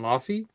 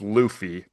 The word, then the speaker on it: Luffy: First things first, we'll just say it right now. It's Luffy. would say Luffy for that.